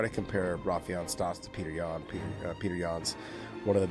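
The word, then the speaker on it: Petr Yan: It's Peter Yan, okay, people?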